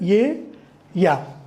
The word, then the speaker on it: ella: So E is pronounced as ye and double L is pronounced as y, ye. So ye, ya. So this E double L A is pronounced as ye, ya.